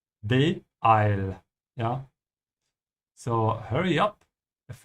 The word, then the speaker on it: beeil: And the way you pronounce it, you have to add a small hiccup between the first two letters and the rest. Beeil.